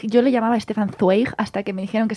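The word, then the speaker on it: Zweig: que que para empezar Habría que ver cómo se pronuncia porque s porque la gente dice Stefan suig se escribe zw e i G Y entonces es como de estos autores que nadie sabe muy bien cómo se pronuncian pero que es una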